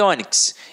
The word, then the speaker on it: ônix: E ônix, eu tenho uma paroxítona terminada em X, com uma pronúncia fechada, levo um acento circunflexo.